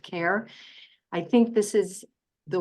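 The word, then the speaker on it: CARHE: he e was not a mistake uh it's pronounced care I think this is the way of the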